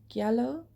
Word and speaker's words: giallo: um next up is giallo i think is how you pronounce it yellow um and i watched